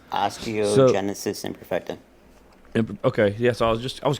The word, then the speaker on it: osteogenesis imperfecta: It's called osteogenesis imperfecta. That's how you say it? Right. It's osteogenesis imperfecta.